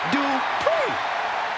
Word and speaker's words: Dupri: Here comes the talented Maxine Dri. Uh, Michael, it's pronounced Dri.